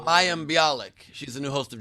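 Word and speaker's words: Mayim Bialik: to pronounce her name mayhem bilix new character wilted who what blossom instead of blossom and it's mayam bialik she's the new host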